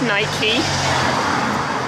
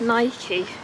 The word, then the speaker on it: Nike: I know it's Nike, but I don't know. I don't feel like I hear many people say Nike in the UK, but it definitely is Nike.